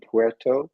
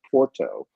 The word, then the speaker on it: Puerto: It's really Puerto as opposed to Porto.